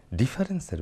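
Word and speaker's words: différance: সংজ্ঞার্থে থিতু থেকো না, ডিফারেন্সের ব্যাপারটা বোঝো, এটাকে ফরাসি উচ্চারণে ডিফারেন্স বলা হবে, সেটা বোঝো যে আমি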